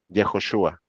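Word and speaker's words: יהושע: Y ya vimos que Josué en hebreo, ¿cómo se dice? Jejoshua.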